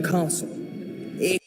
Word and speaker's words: castle: Did you know that the S is silent in this word?